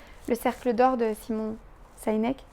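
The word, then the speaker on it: Sinek: cercle d'or de Simon saineek sineek je prononce à la française le cercle d'or c'est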